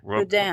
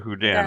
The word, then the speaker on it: Houdin: French musician Robert hudin was probably pronounced Rober hudan Rober huden okay I'll go with that huden now the name